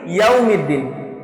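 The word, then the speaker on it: يوم الدين: ওয়াও বলার সময়, ওয়াও উচ্চারণ করার সময় ঠোঁট পরিপূর্ণ গোল হবে। ওয়াও এবং পেশ যেখানে আসবে সেখানেই ঠোঁট গোল হবে।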